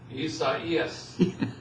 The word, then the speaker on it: Isaias: Isaias.